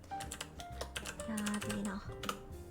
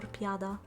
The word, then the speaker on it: piadina: I'll write it and I'll pronounce it again. Allora, it's called piadina or piada.